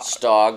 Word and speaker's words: Stog: Stog rhymes with dog, which also comes through in a little bit of its personality as well.